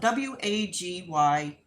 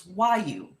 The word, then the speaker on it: Wagyu: So everybody pronounces it differently because of the way it's spelled. It's spelled W-A-G-Y-U, I believe. So it's kind of like spelled Wagyu, but it's not. It's Wyu.